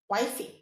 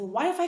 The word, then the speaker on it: Wi-Fi: The way you say the Y is the same way you say the FI. So Wii, the Wi-Fi connection is very strong today.